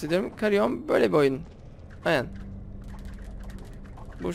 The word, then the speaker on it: Carrion: Aynen, doğru telaffuz ediyorum. Karyon böyle bir oyun.